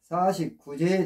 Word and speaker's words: 사십구재: 아홉 9 49까지 쉽죠 근데 맨 안에 나오는이 제자는 제사 제자가 아닙니다 제사 제자가 아니고 재개할 죄입니다 제개라고도 하고 재개할라고도 합니다 제사 제하고는 다릅니다 근데이 재개는 뭘까요 우리가